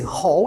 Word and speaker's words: hall: edifícios também então o hol presta atenção na pronúncia aí h tá H A L L pronuncia-se hol esse a tem um som de o o h geralmente é